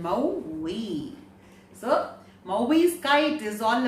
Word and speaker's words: Maui: the story movies kite you should know the pronunciation mao we so movies kite is all about a story